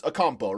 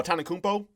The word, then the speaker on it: Antetokounmpo: Giannis Akumpo, right? No, Antetokounmpo.